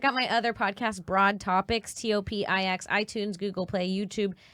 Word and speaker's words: TOPIX: Topics with an X. You can't say that anymore. No? No, because people think that it's topics with like an ex-boyfriend. But it's spelled topics with the letter X.